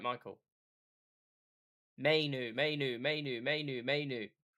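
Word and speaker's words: Mainoo: Michael Mayu.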